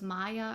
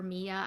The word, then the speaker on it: Mia: Christoph, and this follows Maya or Mia. I think it can be pronounced both ways.